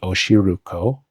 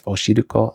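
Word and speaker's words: おしるこ: gai that in and this is not like the r sound in English so an unnatural English speaker sounding pronunciation of those words would be oshiruko oshiruko with like a r sound or gay you don't say that in Japanese it's oshiruko or good ey my tongue is not as far back in my mouth as it would be for an English R sound but it's also not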